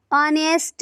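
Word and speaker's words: honest: जैसे इससे पहले एन का प्रयोग किया जाएगा क्योंकि यहाँ पर एच साइलेंट है। ऑनेस्ट मैन, तो यहाँ पर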